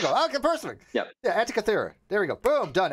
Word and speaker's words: Antikythera: my head around in quantum mechanics was that Antitheria. How do you? Somebody pronounced it.